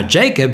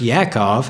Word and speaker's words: Jacob: name red or Edom from then on now Jacob his brother pronounced Yakov had also had a name to it it